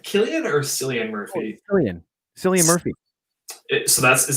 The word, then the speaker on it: Cillian Murphy: Oh, Cillian Murphy. Is that how you pronounce his first name?